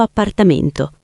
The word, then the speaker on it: appartamento: Oppure, se vivi da solo o con amici, abito da solo in un piccolo appartamento. Ottima pronuncia sulla parola appartamento. Attento alla doppia P.